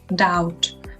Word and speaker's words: doubt: Также у нас есть глагол сомневаться, doubt, в котором буква B также не произносится.